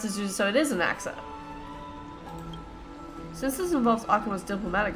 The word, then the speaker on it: Anaxa: Finally, we know how to pronounce this. So, it is Anaxa.